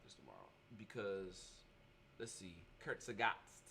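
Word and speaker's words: Kurzgesagt: tomorrow because let's see Kurt sagot that's how you pronounce that by the way if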